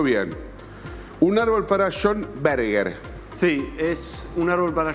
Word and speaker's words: Berger: Un árbol para John Berger. Sí, es un árbol para John Berger, en realidad se pronuncia.